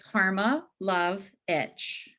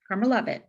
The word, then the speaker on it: Karmilowicz: Karen Karmilowicz. Close enough. I Did I mean, get, no, tell me how to say it. well, it's very easy phonetically. It's Karma Love Itch. Karmilowicz. Karmilowicz.